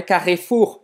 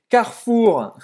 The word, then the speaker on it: carrefour: Mas não é Carrefour, é Carrefour. Carrefour.